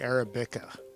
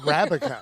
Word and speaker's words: Arabica: I must have been I think I'm saying araba oh I don't recognize that you're saying that wrong Arabica that's awesome Arabica so